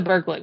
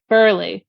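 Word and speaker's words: Burghley: I hope it's the Burgling one. Burgley one, not Burgling. Or how is it pronounced actually? Burley.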